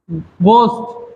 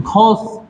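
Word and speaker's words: ghost: rhythm means ताल जी घोस्ट बहुत से लोग इसे घोस्ट पढ़ते हैं घोस्ट बट यहां एच साइलेंट है तो यह हमारा घोस्ट है फ गोस्ट आई के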